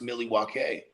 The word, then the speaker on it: Milwaukee: He's like, "I love it here in Milwaukee," and he's like, "Actually, it's pronounced Milwaukee."